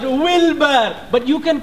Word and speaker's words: Wilbur: for the beautiful song my name is not a wheelbarrow but wilbur but you can call